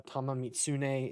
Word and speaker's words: Tamamitsune: i think it's uh tamamitsune is how you say it right there on the